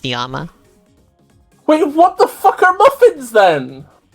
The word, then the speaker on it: llama: the wreck oh God the other rule of Spanish is that two L's together makes a y sound so llama is actually supposed to be pronounced niyama wait what the [